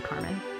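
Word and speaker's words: Karmien: I watched it sounded like her mom was pronouncing it Carmen or something dang close so her name's Carmen and I'm gonna preface this one by saying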